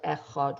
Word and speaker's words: echad: be thinking about as we say the word echad which means one first of all it's also very important to make sure to pronounce the dollar really pronounce it and not